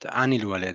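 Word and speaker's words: عن الولد: And normally an, but anil walad.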